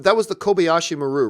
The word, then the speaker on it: Kobayashi Maru: That was the Kobayashi Maru, right? Yeah, that's right. That was the exercise. Did I say it right? Yeah, 19 years old, Altair 6. Yes, Kobayashi Maru.